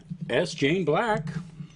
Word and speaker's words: Jaen Black: Alrighty, again, my guest tonight was Jaen Black. The S is silent.